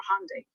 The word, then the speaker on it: Hyundai: And here's the thing, Hyundai already confirmed none of them even worked directly for Hyundai. Hyundai, that's how you pronounce it, by the way.